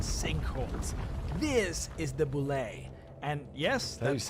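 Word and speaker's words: bulette: earthquakes landslides and sink holes this is the Boule and yes that's how it's pronounced I was also shocked here is the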